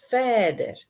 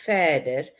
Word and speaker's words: verder: Like the word further in Afrikaans is verder. Hello, Jed. How's your ankle? So we pronounce it in Cape Town verder, and the people in Pretoria will say verder, but spelled the same, just pronounced differently.